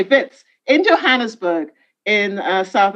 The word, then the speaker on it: Wits: a sound bits okay don't pronounce the w okay bits in johannesburg in uh